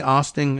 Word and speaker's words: Oosting: Does he say Oosting? It's spelled with two O's, but Oosting.